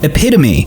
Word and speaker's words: epitome: but and put worshire yeah because it's actually pronounced epitome this is what I was looking for I